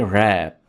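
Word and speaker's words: wrap: रैप, इसमें आपने W को साइलेंट रखना है और वर्ड को पढ़ेंगे रैप।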